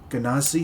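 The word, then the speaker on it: Genasi: Ganazi. Is that how I say it? Yes, that's how you say it.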